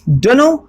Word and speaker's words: dunno: आपने बहुत बार सुना होगा, डोनो बना है डोंट नो से। प्रोनाउंसिएशन पे ध्यान दीजिए, डोनो।